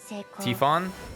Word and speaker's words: Typhon: Tifon? Yeah. That's how it's pronounced.